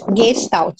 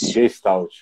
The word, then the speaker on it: Gestalt: A pronúncia é essa mesmo, Elisete? Gestalt. Gestalt.